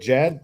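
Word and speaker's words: Djed: I always want to say to Jed. I said Jed. That's why I don't know. Yeah, the D silent on there.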